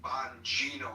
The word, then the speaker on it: Bonino: and and thank you for correcting me, Bonino. I think I mispronounced his name and I was like